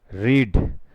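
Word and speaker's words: read: इसकी second form भी रीड ही होती है, लेकिन इसका प्रोनाउंसिएशन रेड हो जाता है।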